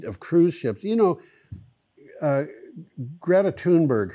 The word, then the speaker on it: Greta Thunberg: You know, Greta Thunberg, her name is Greta Thunberg. It's like she's turned it into... She's turned four syllables into seven.